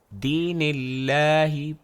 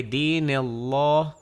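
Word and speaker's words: دين الله: کے نام سے پہلے کسرہ ہے تو وہ دین اللہ پڑھا جائے گا، نہ کہ دین اللہ پڑھا جائے۔ لام کے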